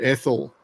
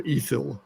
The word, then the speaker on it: Ethyl: love the track Cold Ethyl or ethil however you want to pronounce that won't let why let